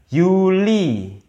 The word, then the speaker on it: Juli: pakai iye bacanya yeya Yuli bukan Juli tapi Yuli Alkes ini sama kayak